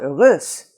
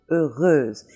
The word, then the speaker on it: heureuse: And we have that also in the word fameuse or chanteuse, chanteuse, fameuse, heureuse. And so that's a combination that is always going to sound like that in French.